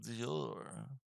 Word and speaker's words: Dior: door Dior is it I don't think it's pronounced your like the like the luxury brand right like yeah I'm rich oh Dior oh I have to you know you have to say it that way it's like the celebrities